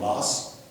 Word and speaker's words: Moss: Rigi is near a city called Moss, spelled like moss, about 100 miles south of Norway.